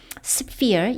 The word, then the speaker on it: sphere: The normal, 아주 일상적인 평범한 sphere, 영역입니다. ph, 이럴 때 F 발음입니다.